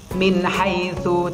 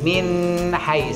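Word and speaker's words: من حيث: Yang pertama, min haitsu, cepet kan? Tidak boleh min hai, salah. Min haitsu, nun mati bertemu ha.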